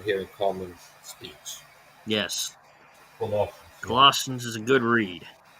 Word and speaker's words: Colossians: That's Colossians. yes, that's what I meant to say. That's the practice you pronounce it.